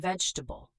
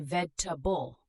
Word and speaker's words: vegetable: Comfortable and vegetable. Comfortable, we say cumf-table, not com-for-table. Vegetable, we say veg-ta-ble, not veg-e-table.